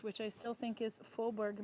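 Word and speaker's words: Fåberg: Because Faubourg is F-A with a circle over it, B-E-R-G. But if you don't do so the A with a circle over it sounds like O, like the Minnesota O. But if you try to pronounce it with an English dialect, it would be Faubourg.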